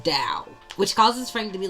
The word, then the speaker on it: Tao: Which leads him to also go on some diatribe about Tao. Even though it starts with the T, it's pronounced Dow.